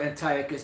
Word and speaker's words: Antiochus: epiphanies which you know you pronounce it Antiochus but you know we're so used to saying antias we going to say